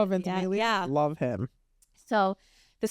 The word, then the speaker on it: Ventimiglia: know how to say his last name, Milo Ventimiglia. Oh, Ventimiglia?